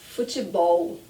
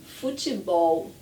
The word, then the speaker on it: futebol: Another very common word, futebol. Futebol. And in some parts of Brazil, we pronounce futebol. So I do ti, te, futebol, futebol, but at the end, it's that L that we're practicing now.